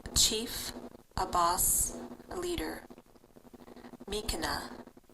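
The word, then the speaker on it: miikana: Mikana, Mikana.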